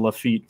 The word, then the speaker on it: Lafitte: Drake C says I live in Lafitte, and I think BPT said Jean Lafitte phonetically. That's how you pronounce it.